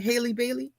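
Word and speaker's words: Halle Bailey: That was Haley Bailey. Haley, am I saying it right? Haley Bailey?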